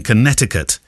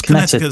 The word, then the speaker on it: Connecticut: from West Hartford in Connecticut yes he says most commonly spoken with a silent second see sorry keV Connecticut no